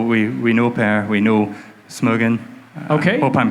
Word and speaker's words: Smögen: And so we know Per, we know Smögen. Okay. Hope I'm pronouncing that correctly. Yeah, Smögen.